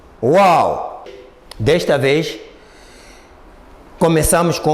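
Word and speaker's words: واو: o som do au Quando os dois lábios juntarem-se incompletamente aí encontramos o som do uau é uau no início de uma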